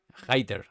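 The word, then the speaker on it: Hayter: Hater se pronuncia, ¿verdad? Hatter. Hater. Lo había dicho yo bien. Es como hater.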